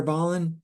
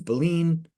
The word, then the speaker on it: Ballin: Ballin, you can say Ballin, it's fine. Correct pronunciation is Boleyn. I used to say Ballin.